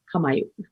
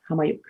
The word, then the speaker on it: Qaumajuq: And it can be pronounced with a bit more of a h at the beginning, or more of a k sound, but it's Qaumajuq. Qaumajuq.